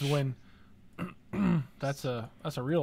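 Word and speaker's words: Nguyen: love scotty newman yeah our win that's how you say it it's win that's a that's a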